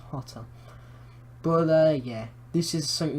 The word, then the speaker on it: Jota: It's not Jota, it's Hotter. Really, it's pronounced Hotter.